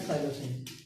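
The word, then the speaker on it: psilocin: इसी तरह से अगर इनको इंग्लिश में कहें तो वो इस तरह से होगा, मेस्कालिन एंड साइलोसिन। जी, इसमें पी वजह साइलेंट होता है साइलोसिन के अंदर।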